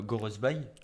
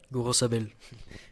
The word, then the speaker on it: Gorosabel: Et côté droit, Gorosbay. Gorosabel. Je t'aide un peu sur les prononciations.